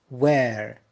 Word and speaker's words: where: Where. Notice here H is silent.